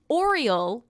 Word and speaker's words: Aureal: ugh an ah okay so oriole is how you say it right ron is gonna ron